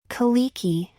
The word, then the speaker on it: Kalecki: Kaliki, she said. It was the way Americans pronounced Polish names. The C was ignored.